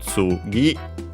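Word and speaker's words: 次: Technically on its own an accent on the last syllable, and so actually in this case we would hear it, unlike when we had no, because no is an exception. It makes words accented on the final syllable unaccented. Other particles don't do so, like in our case the object particle, so tsugi or low, high, low.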